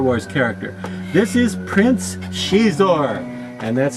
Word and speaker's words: Xizor: is a Star Wars character this is Prince shizor and that's spelled x-i-z-o-r I kid you not now if